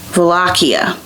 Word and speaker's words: Wallachia: So he was a 15th century European ruler of Wallachia.